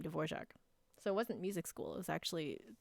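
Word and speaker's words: Dvořák: where I learned how to say his name dvorac so it wasn't music school it was actually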